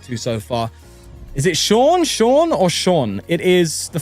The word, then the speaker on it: Sean: Yes, it's S-E-A-N. It's spelled in the Irish way. Like Sean.